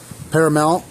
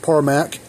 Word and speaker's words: Parmak: repair video on a parmac solar pack 6 parmax P MK parac not Paramount paramark parar parmac how they that's how that's spelled that's how they pronounce it at the factory anyways this is a